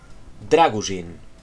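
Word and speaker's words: Drăgușin: tío que se llama, supongo que se pronuncia Draguzin, por la tilde, ¿no? Draguzin.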